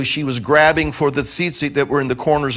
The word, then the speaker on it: tzitzit: It's a fun word to try to pronounce. Some people trip all over it. I've heard zit. It has a visual I can't really deal with, But I've heard all kinds of things, but it's tzitzit.